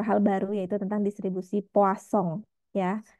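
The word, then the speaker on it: Poisson: baru yaitu tentang distribusi poasong ya namanya distribusi Poison tulisannya atau poasong bacanya dan juga serta menghitung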